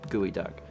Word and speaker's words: geoduck: gia duck gooey duck it's spelled geoduck but it is gooey duck anyway so you are